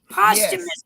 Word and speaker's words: posthumous: it's a posthumous that's how you say it posthumous album but it's also got some current [